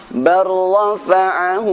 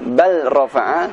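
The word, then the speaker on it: بل رفعه: An-Nisa ayat 158 berbunyi, bar rafa'ahu Allah. Tertulisnya bal rafa'a, namun cara membacanya bar rafa'ahu Allahu ilaihi.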